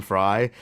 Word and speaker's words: Frey: when people call me Frey because I do pronounce my name fry but technically in German